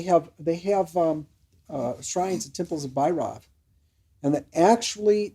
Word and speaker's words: Bhairava: Well, the B and the V are totally interchangeable, right? You're getting this good point. Amongst them, the V is not pronounced with a V. I mean, the V is not V, it's a B.